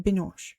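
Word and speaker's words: Binoche: Binosh. I knew it was going to be I keep saying Binos. Binos. Okay. Juliet Binosh.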